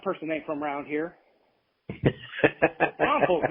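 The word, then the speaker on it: New Braunfels: Brunfels, not Brunsfels.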